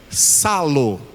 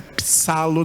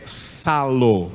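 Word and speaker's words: ψάλλω: parênteses, está escrito, diga, salo. Não é psalo não, tá? Esse P aí é mudo, então você não pronuncia esse P, é salo.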